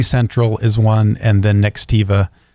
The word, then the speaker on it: Nextiva: Ring Central is one, and then Nextiva is it Nextivia? Nextivia. There, Nextivia. No, it's Nextiva.